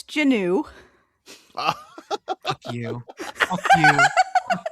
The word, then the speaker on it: Juneau: I will- Juneau is Janu. Janu. Yes. It's spelled just like it sounds. Yeah. I hate that it's true. It annoys me. But that's basically true. That I could have just sounded this out like a fucking second grader and probably had it. Maybe. No. I wouldn't Juneau. have got that. Janu. Janu. Like Janu. canoe. Rhymes with canoe. Spelled That's the right. exact same way.